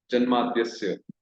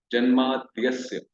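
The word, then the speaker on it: जन्माद्यस्य: Janmadhyasya, Dyasya. So the pronunciation should be combined.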